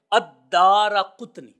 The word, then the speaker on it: الدارقطنی: الدارقطنی۔ دیکھیں عمومی طور پر بعض لوگ اس کو دارقطنی یا دارقطنی پڑھتے ہیں، تو جو محدثین کرام نے اصل تلفظ بتایا ہے وہ یہی ہے الدارقطنی۔ یہ چونکہ نسبت ہے،